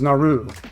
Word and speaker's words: Naru: Prey follows Naru, a Comanche rhymes with raw, who is repeatedly told she's better than everyone else in her community at everything except hunting.